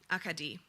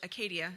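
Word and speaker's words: Acadie: Say it in French. Akadi. I repeat the unfamiliar pronunciation. Akadi, putting the emphasis in different places than the English Acadia I'd been using.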